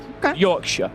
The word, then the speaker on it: Yorkshire: Just like Shire, like Lancashire. I'm from Lancashire. Right. Lancashire. The North Americans tend to pronounce the Shire. That's more of a sh. Sure. So Lancashire. Yorkshire.